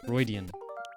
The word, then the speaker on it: Freudian: Is it like Freudian or Freuden? Or am I completely wrong? Because I've seen it written several times, but... Freudian. Okay, there you go, thank you. I had a Freudian slip when I was playing Twilight Princess.